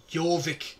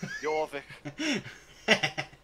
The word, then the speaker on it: Jorvik: Jorvik, pronounce it right. Jorvik.